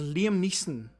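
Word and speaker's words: Neeson: I remember when Liam said his be his name is pronounced Liam Niss, not Leslie N.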